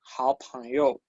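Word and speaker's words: 好友: Este se pronuncia así. Es el mismo de ni hao.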